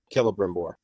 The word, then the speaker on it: Celebrimbor: It's pronounced with a K. Celebrimbor.